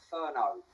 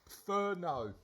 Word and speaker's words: Furneaux: we go any further pronunciation of my name Ferno no Ferno thank thank you Edie I